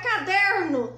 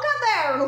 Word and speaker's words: caderno: o caderno caderno caderno Qual que é a sílaba mais forte é o der der bom então ela é classificada em paroxítona por quê Porque a penúltima sílaba é a mais forte então quando a gente